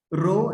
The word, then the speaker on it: rho: रो इसको हम लोग बोलते हैं RHO, रो। इसको मतलब प्रोनाउंस कैसे करना है?